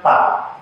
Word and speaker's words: 吧: Seperti huruf ini, itu bacanya pa, tidak ada nada.